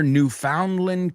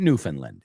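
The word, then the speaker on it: Newfoundland: It wasn't Newf Finland. It was New Foundland.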